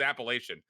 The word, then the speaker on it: Appalachian: We got flamed for how we were pronouncing it, but it's Appalachian.